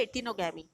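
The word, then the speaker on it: geitonogamy: अब देखिए सी, ये है इटिनोगैमी, ये जी यहाँ पे साइलेंट है, ये है इटिनोगैमी।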